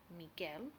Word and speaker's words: Miguel: this is the word Miguel where the U is silent and the word verguenza